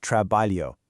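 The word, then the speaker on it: trabalho: The LH sounds exactly like the Li in the English word million. So the word for work, Trabalio, is absolutely not pronounced trabalio. No way. It's trabalio.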